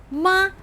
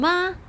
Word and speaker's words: 妈: The same syllable 马 as 妈, just a different tone.